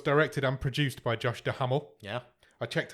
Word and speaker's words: Duhamel: This film was directed and produced by Josh Duhamel. Yeah. I checked how to pronounce his name, and that is how you pronounce it.